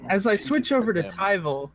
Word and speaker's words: Elturel: I switch over to tyel which is how it's pronounced it's not tivel as one person thought I won't name names um but it's tyel he is lacks confrontational